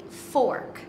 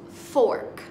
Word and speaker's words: fork: to eat their food be careful when saying Fork it's pronounced Fork you say it Fork pork is meat from